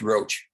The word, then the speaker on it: Rush: Rush, as you may know, it's pronounced Roach. Roach, Mr. Roach. Yes. Sorry for misspelling your name. That's fine. It's Irish descent, not French.